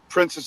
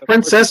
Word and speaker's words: Princes: Now, is it Princess or Princess? Because there's a really big debate about that. It's Prince. Because it's spelled wrong on the release. It's not Princess. Is it really? Yeah. That can't be Princes of Hell. Princes? It's Princes. Yes, Princes.